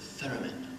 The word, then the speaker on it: theremin: The theremin. Yes, I think in this case we don't pronounce the H, do we?